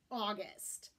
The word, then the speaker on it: August: is capitalized or lowercase the perfect example of this is the month we're in August August when it's capitalized is a month of the year if we lowercase this word it changes pronunciation to August and it means something revered or something very important this also happens with